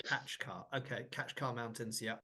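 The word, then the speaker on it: Kaçkar: been mispronouncing everything around actually I think it's the catch car like it's catch car not it's not Kat car I kept saying katar at the beginning it's actually catch car it's catch car okay catch car mountains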